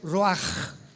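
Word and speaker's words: רוח: palabra espíritu del hebreo rúach con ch se pronuncia roja como con j etimológicamente que es el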